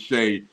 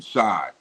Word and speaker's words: Shai: pronounced it sh but his mama named him Shay so I gotta call him Shay so Shay gilis Alexander